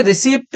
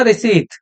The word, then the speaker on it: receipt: अब आप देखिए, ये है RECEIPT, देखिए रिसीप्ट नहीं कहना, इसको बोलना रिसीट, सही प्रोनाउंसिएशन है इसकी, रिसीट।